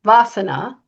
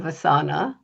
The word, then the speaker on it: Vasana: First, I've been saying the company name wrong, Vasana instead of Vasana.